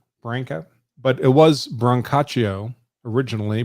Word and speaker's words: Branca: We mostly pronounce it Branca, like bank, Branca, but it was Brancaccio originally before we got to Ellis Island, and they trimmed it down.